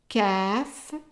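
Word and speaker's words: كاف: So it's qa, qaf, qaf, kaf, just like a regular K, kaf, lam, lam.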